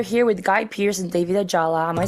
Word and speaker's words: David Ajala: So, we are here with Guy Pierce and David Ajala. Am I saying that right? I don't want to butcher it. Oh, great pronunciation.